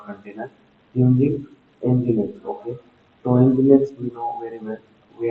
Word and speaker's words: Nginx: So, Nginx we know very well, we are pronounced it as Nginx.